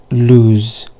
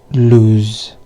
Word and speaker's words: lose: The one with double O, it's loose with S sound, and the one with one O, it's lose with a Z sound. So it's loose and lose.